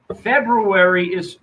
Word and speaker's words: February: February has an R in it that nobody pronounces. Nobody enunciates the R.